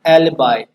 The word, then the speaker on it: alibi: ALIBI इसका right pronunciation है एलिबाई।